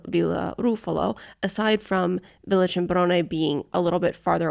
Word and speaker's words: Cimbrone: Cimbrone.